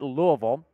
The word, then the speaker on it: Louisville: Taking a look at his resume here, started at Louisville. It is pronounced Louisville, by the way, not Louisville, as I've discovered.